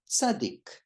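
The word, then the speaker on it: צדיק: Tzadik, some people say tzadik, but the word is pronounced, the letter is pronounced tzadik. And tzadik is either TZ or TS.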